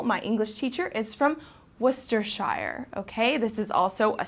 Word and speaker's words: Worcestershire: and for example my English teacher is from Worcestershire okay this is also a sauce that's popular